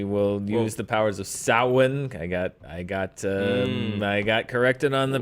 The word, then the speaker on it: Samhain: We will use the powers of Samhain. I got corrected on the pronunciation of Oh, that.